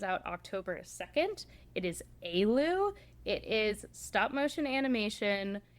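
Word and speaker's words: Éalú: It is Aloo.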